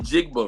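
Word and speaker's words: Njigba: In Jigba, right? In Jigba, did I say it right, Omar? But you got it.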